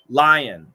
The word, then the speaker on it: Lyon: you mean the pronunciation leon lyon leon lyon long e long eye really never bulabase i've